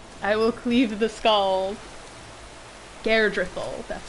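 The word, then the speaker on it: Geirdriful: to do it i will cleave the skulls garedrethel that's how she pronounces her name i was getting it wrong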